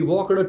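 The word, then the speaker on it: walked: वी वॉकड to Kankariya and टॉक्ड with them. Oh माय God, vomit हो जाए मेरे को तो। वॉकड, टॉक्ड, ये डी जो है साइलेंट, ये थोड़ा हल्का से बोलना है।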